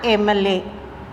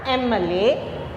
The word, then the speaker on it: MLA: Here, as I told before, M it starts with E and M pronunciation. So, an MLA.